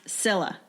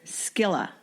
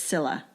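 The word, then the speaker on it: Scilla: i l l a which is pronounced Sila a lot of people want to say skilla but it's Sila silent sea yeah the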